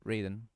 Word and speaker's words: Raiden: it some people say Ryden some people say Raiden I'm kind of used to saying Raiden Shogun but I can understand why saying Ryden Shogun is also another way of